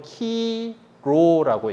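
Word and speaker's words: Chi Rho: 그러니까 그래서 이걸 읽을 때는 히란 말 요 알파벳대로 키로라고 읽어요. 키로.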